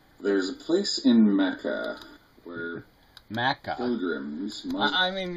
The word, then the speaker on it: Mecca: really are telling me you hear people pronounce it Maca I mean really Mecca I've never heard it pronounced anything other than Mecca I mean it's one